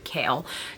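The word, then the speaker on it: Chaol: the very first book I want to call him Cole his name is apparently kale I looked up the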